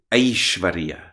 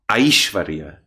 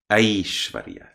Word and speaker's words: Aishvarya: So it is not so much I and not so much A, but A. So we will say Devai or Aishvarya, Aishvarya. Not Aishvarya or Aishvarya, but Aishvarya, Aishvarya.